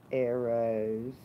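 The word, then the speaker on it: Eros: y'all to my little friends here this is arrows and it's spelled E or OS which means love and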